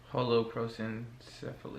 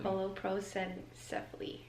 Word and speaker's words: holoprosencephaly: One is, how do you pronounce it, babe? Holoprosencephaly. Holoprosencephaly.